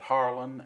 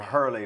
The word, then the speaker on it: Hurley: time because i have i've been called harlan and harlow and harley and and you spell it with the e-y h-e-r-l-e-l-e-y see on my